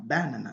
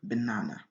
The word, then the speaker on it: banana: raté la prononciation donc on va dire dans sa cave banane ce qui est la mauvaise prononciation la bonne prononciation c'est dire banana donc l'accent tonique est très